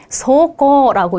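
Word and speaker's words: 走行: 네, 그런데 주행은 어떻게 읽어요? 소코라고 읽잖아요. 그쵸? 그래서, 코라고 여기서는 읽죠.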